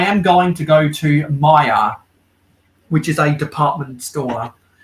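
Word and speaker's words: Myer: going to go to maya which is a department store in australia that's different from that's different from the two different maya department stores in the us al maya is spelled m-y-e-r one of the mayas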